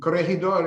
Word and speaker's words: Corregidor: And Corregidor is a Spanish word, and the Filipino pronunciation is the same as the Spanish, Corregidor.